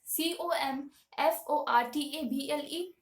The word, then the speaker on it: comfortable: right so they so they tend to give more uh emphasis on the word table but the actual pronun pronunciation of this word is comfortable comfortable all right comfortable now let's look